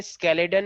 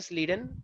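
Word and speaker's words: Schleiden: कुछ लोग इनको बोलते हैं स्केलेडन एंड साकवान, ठीक है, लेकिन एक्चुअली जो प्रॉपर प्रोनाउंसिएशन है वो है स्लीडन एंड सुआन।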